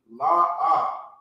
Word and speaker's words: La'ah: So now you have the la and the ah.